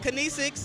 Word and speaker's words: Kinesixx: Uh, it's called Kinesis.